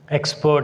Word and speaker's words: expert: But when come to the third word, expert, I am writing here clearly. So the word expert takes stress on the first letter.